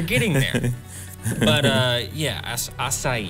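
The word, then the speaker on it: açaí: there but uh yeah acai even though it looks like a kai it has a different sort of pronunciation to it that oh you're going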